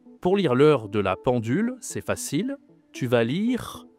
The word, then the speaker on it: pendule: La pendule attention à prononciation nasale en la pendule.